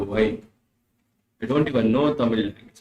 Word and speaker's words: Tamil: I don't even know Tamil. Tamil also I have learned now to pronounce proper for it is Tamil. Not Tamil.